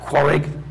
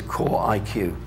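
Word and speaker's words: QorIQ: power pc cpus uh some people could pronounce that quarig but uh official name is core iq why they put funny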